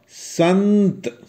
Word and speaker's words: संत: अगर हम लिखते हैं संत, तो आप कैसे उच्चारण करेंगे? स, आधा ना और त, संत।